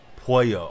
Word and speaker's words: pollo: Pollo, okay. So the L is not like the American sound or the English pronunciation of it.